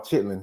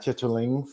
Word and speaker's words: chitlin: I do want to say before we go somewhere, it's called chitlin, not chitterlings.